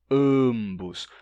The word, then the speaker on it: ambos: Ambos, ambos. Porque como não tem nasalidade na vogal, ela tem que aparecer na forma de consoante. Ambos. Então, nesses sotaques, tem sim o M pronunciado como M nesses casos.